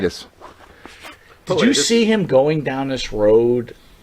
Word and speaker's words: Pilatus: But the bigger question I have for you is, and I want to make sure I was pronouncing his name right. Rob Pilatus? Is that right? Pilatus.